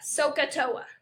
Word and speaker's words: SOHCAHTOA: So you pronounce that kind of funny. You say so, and then the cosine is AH, ka, and then the tangent is opposite over adjacent, toa, SOHCAHTOA.